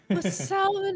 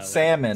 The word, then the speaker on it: salmon: of weird about fish this is great which Salomon is so good um Rico you say salmon